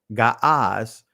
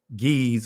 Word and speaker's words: Ge'ez: Ancient Ethiopian is pronounced Gaaz. Today they call it Ge'ez or Ge'ez, right?